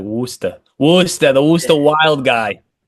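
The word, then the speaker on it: Worcester: blaze is spelled like Warchester and it's like Worster.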